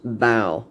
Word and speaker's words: bow: stern you'll see that as if you're imitating a dog's bark as in bow wow that's how it's pronounced bow the ship's bow from